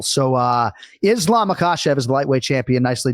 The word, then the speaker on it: Makhachev: as kenflo right but ultimately we're trying to hit makashe haven't hit that second syllable so uh Islam akashav is the lightweight champion